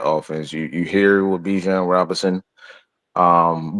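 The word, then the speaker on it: Bijan: you you hear with Bjan Robinson um Bjan Robinson the way he like to pronounce it but um he he I I love the offense.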